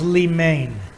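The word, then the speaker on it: λίμνη: word lemon or limnen is some righted it's pronounced li main and it means a harbor a haven okay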